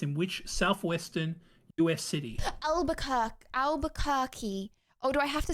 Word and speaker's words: Albuquerque: Oh my gosh, it was actually Albuquerque. I thought it was going to be like Alba something, and I got a few syllables you got it wrong right at on least.